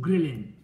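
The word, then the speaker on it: ghrelin: جي هرمون اتش ريسبتور، بس الاتش سايلنت هنا ما تنطقش، فيسموه جريلين. انما جاب منين الاسم؟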